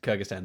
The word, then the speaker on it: Kyrgyzstan: We would appear to be in Kyrgyzstan this time, which I pronounced correctly.